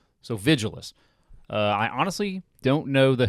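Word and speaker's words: Vigiles: I pronounce the name the same way you'd say vigilant, but with ant replaced by less. So Vigilus.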